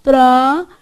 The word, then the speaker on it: tranquilo: Tran, não pronuncia o N, porque é nasal, ó. Tran, não é isso? Depois, esse U aqui, você pronuncia ou não? Qui. Olha a sua boquinha enrugando embaixo. Tranquilo.